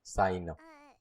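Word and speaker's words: Cyno: Te encanta Sino, te tienen que encantar las cartas. Si no, estarías fallando así, ¿no? Calx? Saino. Se Is pronuncia así that?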